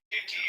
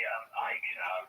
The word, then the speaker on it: Icke: Nobody would pronounce their name Icky. But when you were a child, David, based on how it's spelled here, did you have a rough time with this one? No. They called me Ike. They called you Ike? Yeah, I mean, you don't pronounce the C.